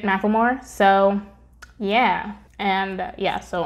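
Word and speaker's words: McLemore: I'd like mention that I wasn't sure and she pronounces it Macklemore so yeah and yeah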